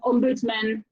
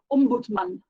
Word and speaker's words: ombudsman: Sorry, I pronounce that in a Swedish way because it's a Swedish word, ombudsman. I think it's the way we pronounce it in English, which is weird to me.